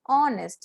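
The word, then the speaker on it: honest: कि an aeroplane, an ऑनेस्ट. यहाँ पे एच साइलेंट है और साउंड में हम ओ का साउंड लेते हैं, इसलिए एन ऑनेस्ट.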